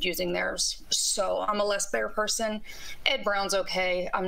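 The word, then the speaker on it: Les Baer: why am I a less bear person? Because he makes impeccable firearms. He's not. Some people that hold themselves out to be custom firearms are not. He machines his. It's pronounced less bear.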